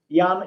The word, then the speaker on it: Jan: Okay, my name is Jan, and Jan is easy.